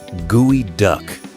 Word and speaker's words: geoduck: This is the geoduck, pronounced gooey duck.